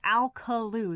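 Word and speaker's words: Alcolu: I think it is, people ask me how you pronounce that. It is Alkaloo.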